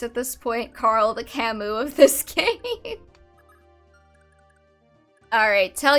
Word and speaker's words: Camus: Yeah, it's Camus because it's French. And the French don't like pronouncing letters.